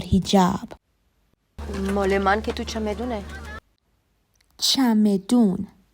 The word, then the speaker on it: چمدون: مال من که تو چمدونه. چمدون. This word is a noun and the conversational pronunciation of the word چمدان is the Persian equivalent of suitcase or baggage.